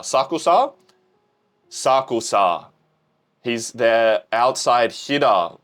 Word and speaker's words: Sakusa: Sakusa. Sakusa.